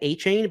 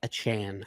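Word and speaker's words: Achane: It's it's either ach I think we've said achain but it's like achan I believe is actually how you pronounce it.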